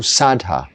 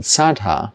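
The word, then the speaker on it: saddhā: But what the Buddha taught and how it is taught is that saddha, or shraddha as they pronounce it, I think, here and say it, they use a lot of, it sounds like Sanskrit here, even though we have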